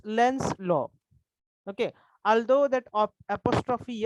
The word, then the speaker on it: Lenz's law: Lenses असं म्हणायचं नाहीये. Okay, don't pronounce in such lens. It's Lenz's law.